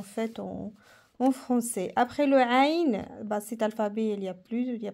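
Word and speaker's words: ع: Ça vient de la gorge à l'intérieur. Aïn, comme les yeux.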